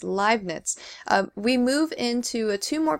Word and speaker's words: Leibniz: I always had trouble pronouncing it, but it's Leibniz.